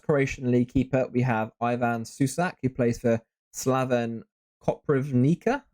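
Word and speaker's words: Ivan Šušić: Okay, our first Croatian League keeper, we have Ivan Susic, who plays for Slaven Koprivnica.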